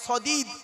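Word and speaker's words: صديد: সদিদ, কি বললাম বাবা, বলুন, উচ্চারণটা করুন না। সদিদ, শুনে নিন, সিন দিয়ে সাদিদ, শিন দিয়ে সাদিদ, সদ দিয়ে সদিদ।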